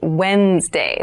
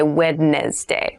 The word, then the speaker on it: Wednesday: So, Wednesday is the middle day of the week, but keep in mind this is pronounced Wednesday. There's a D there, but we don't say wed day.